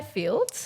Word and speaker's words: Feeld: Um, so Field also is spelled F E L D for people wondering what the app is called and how it's spelled cuz it sounds like field like field day out in the field.